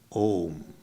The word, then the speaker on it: Om: Phonetically, it is a universal sound consisting of three sounds: A, U, and Ma.